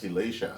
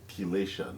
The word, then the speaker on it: chelation: That's wonderful, because I know that I was telling you earlier that I did the chelation on Friday. Yes. Chelation. Yes. Chelation, not chelation.